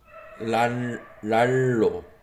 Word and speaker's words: 날로: 랄로. 랄로. 난으로. Just a little bit. Korean pronunciation very typical. 난노. 난으로 and 날로. Just pronunciation is L. 랄로. 랄로 like that. Oh, it becomes L.